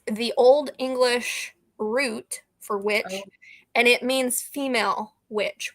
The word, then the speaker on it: Wicche: It's not we, but it is pronounced witch. Okay. It's just old English.